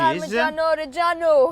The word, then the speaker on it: Parmigiano Reggiano: Parmigiano Reggiano.